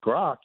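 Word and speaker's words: Grok: if if uh if grock is that good and that actually you know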